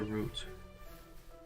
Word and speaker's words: route: route or route I know rout is more like the American pronunciation isn't it so I guess you should stick to root stick to my roots